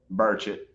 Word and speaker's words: Burchett: Representative Burchett, is that how you say it? Burchett.